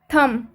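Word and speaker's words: thumb: अगर इसमें हम बी का उच्चारण करेंगे तो इसे हम थंब पढ़ेंगे, जो कि बिल्कुल गलत हो जाएगा। इसे हम थम ना पढ़कर इसे हम सिर्फ थम पढ़ रहे हैं। थम इसका सही उच्चारण है क्योंकि इसमें बी साइलेंट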